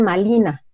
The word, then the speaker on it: Malina: Ella, bueno, cuando la bautizan como Marina, los indígenas no pueden decir Marina porque no pueden pronunciar la R, y le dicen Malina.